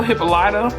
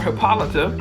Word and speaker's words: Hippolyta: Also Hippolyta, or Hippolyta, how it is pronounced in the book, which is how I would normally pronounce it.